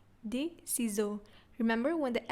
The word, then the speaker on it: ciseaux: So it's des ciseaux, des ciseaux. Remember, when the S is, there's only one S in the middle of the word, it's pronounced as z, z.